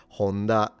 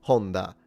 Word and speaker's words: Honda: If you're interested the pitch is low to high so it's Honda rather than Honda because I notice a lot of people say Honda. It's Honda even when they know how to speak Japanese. Not a big deal. Pitch is not like the most important thing ever but if you're curious the pitch is low to high.